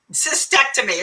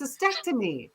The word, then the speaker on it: cystectomy: Cystectomy. It's hard to say. Oh no, like vasectomy. It's cystectomy.